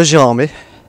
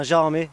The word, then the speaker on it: Gérardmer: très très loin de gérardmer d'ailleurs j'ouvre une parenthèse on prononce bien gérardmer et non pas gérardmer mais pour en comprendre